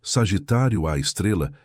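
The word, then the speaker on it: Sagitário A*: O buraco negro supermassivo no centro de nossa galáxia, conhecido como Sagitário a pronunciado Sagitário a Estrela, tem aproximadamente 4 milhões de massas solares e está localizado a cerca de 26.000 1 anos luz de nós.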